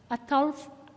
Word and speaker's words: Ataulfo: How do you say that? Ataulfo? There you go.